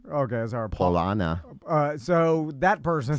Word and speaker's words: Paulaner: Paulaner. Okay, sorry. Paulana.